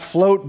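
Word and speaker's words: Fleauxt: We've got Float Baton Rouge, and I bring them up just because I love their name. It's spelled F-L-E-A-U-X-T in Baton Rouge, which is pretty cool.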